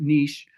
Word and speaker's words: niche: And I know some people pronounce it niche. It goes either way. You can look it up in the dictionary. So niche or niche, whatever it is that